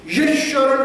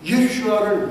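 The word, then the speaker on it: ישוע: 7만 명의 이집트 기독교인들이 유명한 동굴교회에 함께 모여서 10분간 예수님의 히브리 발음인 예수아를 외치는 감동적인 장면.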